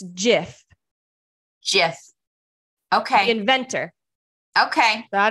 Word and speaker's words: GIF: the inventor said it's GIF. GIF. Okay. The inventor. Okay. So I don't know who the inventor is, but she looked it up. GIF. With a G, not a J, guys.